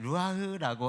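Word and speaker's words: רוּחַ: 원래 히브리어는 이렇게 끝에 가래 끓듯이 발음하는 거라고 배웠어요, 학교 다닐 때. 그래서 이제 루아흐라고 하는데, 이 루아흐라는 단어는요,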